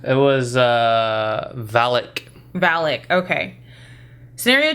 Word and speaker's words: Valak: Valka? It was Valak.